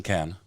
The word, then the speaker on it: Cannes: How do the French say it? Cannes. Cannes, yeah, Cannes. They don't pronounce the S.